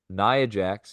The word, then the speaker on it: Nia Jax: Now let's just finish real quick with the women's division, and we're going to talk about Nia Jax, and that's how you say it, Nia Jax,